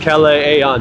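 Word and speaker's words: Kalayaan: is Cal Aon Avenue pronounced Cal Aon there's two A's at the end so if there's two A's you pronounce both of them in the Philippines so you can see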